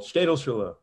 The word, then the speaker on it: Städelschule: Buck, how do you pronounce this? It's impossible. Städelschule.